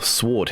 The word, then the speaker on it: Sword: uh Sword Hero or Sword Hero if you want to pronounce it correctly.